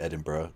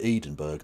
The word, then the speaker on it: Edinburgh: of them will not know that it's actually Edinburgh and will think it's Glasgow and pronounce it Glascow and those people get immediately sent to the Goolag. But if they do know it's Edinburgh and pronounce it Edinburgh, they they're fine.